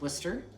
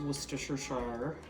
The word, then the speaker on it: Worcestershire: how it's spelled and it's called Worcester um not Worcestershire right but um call it